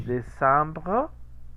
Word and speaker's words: décembre: décembre, décembre. Evidentemente la E no se pronuncia, pero queda un rastro chiquito de aire porque se corta la vocal que sigue, ¿no?